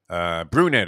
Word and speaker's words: Brunette: Brunette is actually his name. I thought it was Burnett, but and I kept mispronouncing it yesterday.